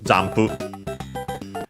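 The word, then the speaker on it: 音符: not least of course zampu. By the way notice also here j when uh pronouncing them distinctly but of course the n before the p becomes m. So just like in English jump of course then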